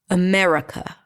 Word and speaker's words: America: The truth is that we don't pronounce any of those vowels because all of them are reduced to awah. America. America. America. Yes. So there is no ah in America and there is definitely no e in America.